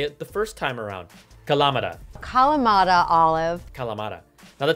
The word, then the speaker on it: Kalamata: it is codenamed internally Kalamata, after the olive, Kalamata. See, I've learned a lot after I completely butchered how to say it the first time around. Kalamata.